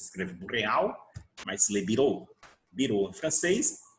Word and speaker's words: bureau: Se escreve boreal, mas se lê bureau.